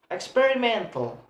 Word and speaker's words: experimental: Like word experimental. We have stress on the second one from the last. Experimental. Men have a stress.